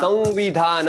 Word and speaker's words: संविधान: संविधान, वहां पर अनुनासिक व का उच्चारण होता है, न का नहीं।